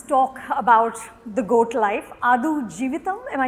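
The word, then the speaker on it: Aadujeevitham: Adu Jivitam, am I saying it correctly?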